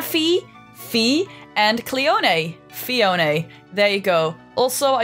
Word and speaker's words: Phione: name comes from a combination of the last syllable in mana fee fee and clione a phione there you go also I used to always call it Fiona but that's not why it's called apparently let's